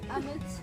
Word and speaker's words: Amit: What a way of pronouncing the name. Amit, it's AMIT.